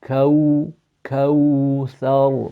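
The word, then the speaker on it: كوثر: When you look at my lips, they're pouting out kaw thar, because the waw is pronounced from the lips.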